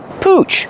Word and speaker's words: pooch: Pooch. Pronunciation. Use the oo sound like moon and soon.